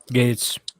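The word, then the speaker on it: Gaetz: the Matt gate how do you say that gets Gates Gates yeah Gates be this you know I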